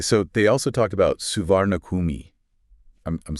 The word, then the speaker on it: Suvarnabhumi: That's just the English spelling trying to phonetically capture the Thai pronunciation. Right. But you're going to hear locals say Swanapam. Okay. Like they kind of drop that hard R sound.